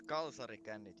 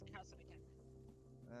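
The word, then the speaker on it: Kalsarikännit: It's Kalsari Kannit, you dumb. I know it's Kalsari Kannit. And say it properly, that is a Finnish holy tradition.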